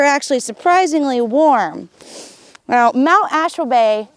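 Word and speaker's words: Ashwabay: surprisingly warm now mount ashford bay interestingly enough they created that name because of washburn ashland and bayfield so that's an easy way to remember how to say it let me tell you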